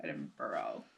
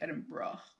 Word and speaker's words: Edinburgh: the UK Scotland it's spelled Edinburg but it's pronounced edino but we say edin BR cuz that's kind of how they see it